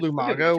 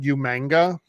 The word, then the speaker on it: Umaga: heels um like I've said before really sold Umaga was um William Regal was General Manager at the time and he couldn't pronounce his name right he kept I mean intentionally but he kept calling him umanga umanga yeah one's up for the bloodline which one